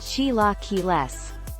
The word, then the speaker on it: chilaquiles: satisfaction let us show you the way chilaquiles pronounced chilaquiles are a traditional mexican breakfast made with tortilla